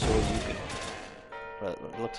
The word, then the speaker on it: Shoryuken: Because I know it's pronounced Shoryuken, but it looks like it's spelled Soryujin.